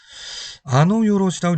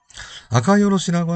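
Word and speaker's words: あかよろし: 먼저 이 두 가지가 일본어를 아시는 분들은 아노요로시라고 읽을 수 있어요. 노자가 아니고 사실은 카라고 표현을 실제 카입니다. 노처럼 비슷합니다만은 이것이 노가 아니라 카라고 하는 점을 여러분 주의를 하시고요. 아카요로시라고 하는 것은 아주 탁월하다, 뛰어나다, 멋있다 등등이에요.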